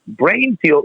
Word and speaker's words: Breinfuel: and on our website brain fuel is spelled d-r-e-i-n we don't want to just be the brain anatomical brain we're a unique product so it's b r e i n f u e l dot com and you go to